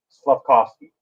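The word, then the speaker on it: Slavkovský: And I'm going to make it very easy for you. Slavkovsky. Just say Slavkovsky. That's all you have to say. Slavkovsky.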